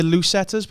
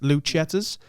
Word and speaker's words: Lucettas: Maybe the Lucetters, but I'm going to go with a hard C on that. Lucettas.